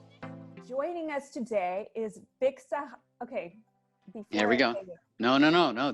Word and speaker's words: Sahay: Sahay? Yes. I mean, the stumble was hilarious, but it is Sahay, so you had it right. I did, and then I started questioning myself. Sahay.